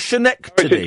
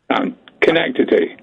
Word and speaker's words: Schenectady: Is it not Schenectady? It's Schenectady.